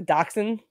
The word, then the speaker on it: dachshund: They're like the little, what are they, dachshund? Yeah. Is that how you pronounce it?